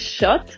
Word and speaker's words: kött: Meat in Swedish is kött, but spelled with a K, even though it sounds like with sh.